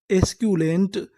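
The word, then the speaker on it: esculent: एल एन टीेंट पूरी meaning क्या बनी एस्क्यूट एस्कुलेंट एस्कुलेंट एस्कुलेंट का मतलब होता है खाने पीने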